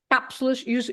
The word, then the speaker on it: cápsulas: Cápsulas, you have the accent on the A, so you have to stress cápsulas.